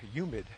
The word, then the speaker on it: humid: from the Bronx and we never pronounced our h's with the word humid we would say humid with a white no H but I've been noticing and a lot of people do say humid and even the word